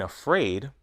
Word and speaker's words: afraid: In afraid, the second syllable is stressed. Afraid.